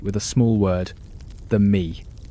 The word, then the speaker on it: me: There is a concept written across some of these tablets that scholars translate with a small word, the MI. You'd say it's something like may in English, though the pronunciation doesn't matter as much as what it meant.